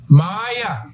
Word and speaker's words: Maya: Maya.